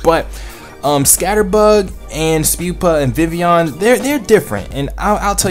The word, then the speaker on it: Vivillon: So coming in at number 10 on my top 10 list is Vivillon. And first of all, it is pronounced Vivillon and not Vivillon.